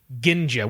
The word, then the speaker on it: Ginja: I do like Ginja G in J a Ginja which I assume this how pronounced Ginja I kind of like